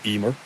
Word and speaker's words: Emer: we pronounce it today Emer but the m is pronounced like a v in the middle of a word so it's heavier or